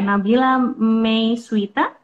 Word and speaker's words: Nabila May Swita: Namanya Nabila May Swita. Bacanya begitu ya, Nabila May Swita.